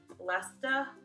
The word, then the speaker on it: Leicester: Leicester, we don't say the R.